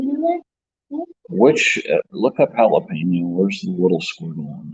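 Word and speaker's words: jalapeño: Look up jalapeno. Where's the little squiggle on the top of it? Is that on the N or the E? N. You pronounce the N more. Jalapeno. It's sounding it.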